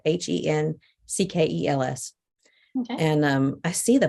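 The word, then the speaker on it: Henckels: and I've seen them lots of times called Hinkles. Like I said, I don't know if I'm saying it right. Henkels.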